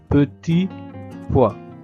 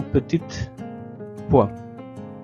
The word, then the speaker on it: petits pois: Ce sont des petits poids sans prononcer la t de petit poids et non petite poid.